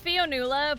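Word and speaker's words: Fionnuala: pronunciation last time which correct the pronunciation of your name real quick it's fionala but i know because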